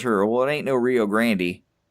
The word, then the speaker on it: Rio Grande: I suppose, the correct, Spanish pronunciation is the Rio Grande, but not Rio Grande.